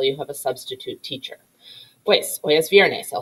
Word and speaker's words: hay: question remember in spanish if a word starts with the letter h we don't pronounce it it's silent like the word hola